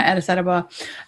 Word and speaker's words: Addis Ababa: Yeah, Addis Ababa.